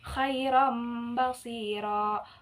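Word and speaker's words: خَيْرًا بَصِيرًا: Contohnya khairam basira, khairam basira. Nah, khairam basira. Oh iya, nah untuk huruf ini, untuk hukum iklab, sama dibacanya itu harus dengung, seperti idgham. Idgham bigunnah, harus dengung.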